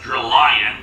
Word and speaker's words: Drillion: along with her bodyguard, Drillion. And really, it should be pronounced Drillion, considering, lion and drills, but whatever.